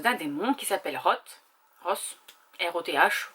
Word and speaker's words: Roth: R-O-T-H, vous le prononcez comme vous voulez.